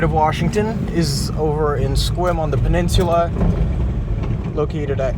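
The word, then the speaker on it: Sequim: And our second location in the state of Washington is over in Squim on the peninsula located at 87 Dri Road in Squim, Washington, right off the 101 freeway.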